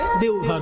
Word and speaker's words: দেওঘর: তারপরে এখন ব টা অ তে পরিণত হিন্দি উচ্চারণে দেওঘর হয়ে গেছে যাবেন এটা দ্বাদশ জ্যোতির্লিঙ্গের এক জ্যোতির্লিঙ্গ